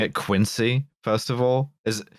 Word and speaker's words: Quincy: ALICE: Are they going to get you for pronouncing it 'Quin-see', first of all? Is it 'Quin-see' or is it 'Quin-zee'? MILES: It's 'Quin-see.' LIAM: 'Quin-zee' i- 'Quin-zee' is the suburb of Boston.